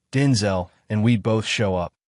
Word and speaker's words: Denzel: The emphasis is not syllable of his name and not the second with the last part rhyming with pole or lull.